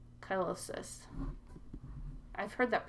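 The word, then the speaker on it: cheilosis: It's not colitis, chylosis.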